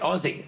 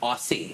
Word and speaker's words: Aussie: bazi friends yeah and I say it right Ozzy not aussie yes headboard but the